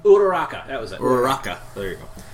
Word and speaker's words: Uraraka: Uraraki? Uraraka, that was it.